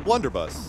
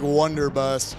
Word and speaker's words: blunderbuss: of this gun again it's the blunderbuss okay I was gonna say it wrong again I was like wonder bust thing whatever it's called that's